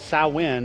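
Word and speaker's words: Samhain: actually goes back to a Celtic festival called sow win is how it's pronounced it was the day of the dead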